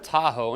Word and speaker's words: Atojo: cool little background story behind this it's a lot of time in the making and the name of tahoe and yes i'm pronouncing that correctly actually comes from the